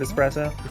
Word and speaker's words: espresso: it is spelled expresso like the way that people always mispronounce the word espresso oh there's just so